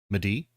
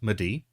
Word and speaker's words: Mehdi: It's Medi. It's like me. It's pronounced the way it's spelled. Um, Medi.